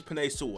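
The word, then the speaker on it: Penei Sewell: oh wait wait bro i say his name now did i just say it right paneer sul his name is pine soul i think i just said it yeah paneer soul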